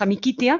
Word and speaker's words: amicitia: Pero en el mundo medieval, la amicitia, lo pronunciamos amiquitia, con CI, la amistad era una